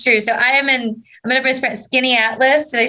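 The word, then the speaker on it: Skaneateles: So I'm going to Skinny Atlas.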